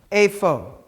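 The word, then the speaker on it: אֵיפֹה: this word a phone the pay without the dots like ph like in phone afo what does the word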